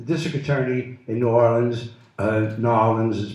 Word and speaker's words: New Orleans: The district attorney in New Orleans, Nolens is pronounced, Nolens one word, Jim Garrison filed charges